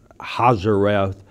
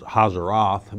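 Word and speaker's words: Hazeroth: they encamped kibrath hata Ava was the first hazareth was hazaroth better pronounced pronounced would be the second but Paran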